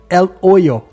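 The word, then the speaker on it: El Hoyo: poço conhecido também como ela olho eu fui procurar depois a pronúncia e percebi que o h nesse caso ele não existe então é ela olho que seria o poço em espanhol ou xuxu ou chuchu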